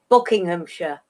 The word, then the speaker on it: Buckinghamshire: We don't pronounce the Shire. It's like... Sure. Yeah. Buckinghamshire.